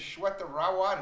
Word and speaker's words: Shweta Rawat: Her name is Shweta Rawat.